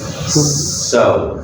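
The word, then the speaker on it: sew: And how to pronounce that word, you know, s e w so so so and so.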